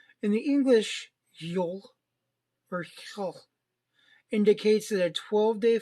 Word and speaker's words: Yule: straight they called it Yule which is pronounced the same as the word for Christmas in Norwegian today the Viking believed Odin